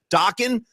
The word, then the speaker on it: Dokken: Dokken rhymes with rockin'.